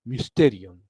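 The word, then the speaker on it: μυστήριον: Sí, se pronuncia así, es raro. En griego es mysterium.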